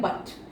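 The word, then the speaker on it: but: फिर आ गया जैसे आप बोलते हैं बट, है ना, तो यहाँ पे लिखा तो हमने यू है लेकिन इसका उच्चारण क्या आ रहा है, अ उच्चारण आ रहा है।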